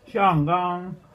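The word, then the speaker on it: 香港: Xiang gang~ (pronunciar Hongkong en idioma china mandarina) 2 chanchos robaron mi comida.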